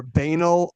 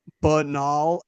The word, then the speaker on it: banal: Uh, the three most common are banal, banal, and banal.